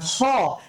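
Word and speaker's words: خ: কণ্ঠনালীর মধ্যে ওখান থেকে আর খ টা উচ্চারণ করতে হবে কোত্থেকে খ টা হবে কণ্ঠনালী থেকে বাট কণ্ঠনালীর শেষ থেকে তারপর হচ্ছে দাল তারপর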